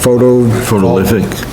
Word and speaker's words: photovoltaic: Okay, next is solar farm large, a solar energy system roof or ground mounted, how do you pronounce that? Photovoltaic.